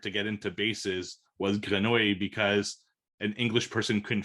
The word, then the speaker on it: grenouille: So, which is, yeah, because the word frog in French is so difficult to pronounce that English people can't say it. Frago. So it's grenouille.